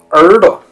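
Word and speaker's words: 耳朵: 不像话，而是应该还是第一个字读成三声的这种变声，也就是实际上还是三声的感觉，再加轻声，姐姐、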